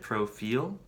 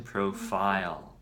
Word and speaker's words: profile: when somebody said it they said pro feel I just want to correct the pronunciation profile okay I think you're speaking